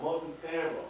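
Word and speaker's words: multitimbral: another question, there's another term called multi, that's pronounced timbral, that's pronounced multi-timbral, that's a term you want to remember.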